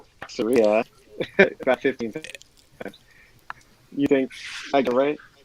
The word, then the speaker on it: Ataraxia: After typing it incorrectly, it's Ataraxia.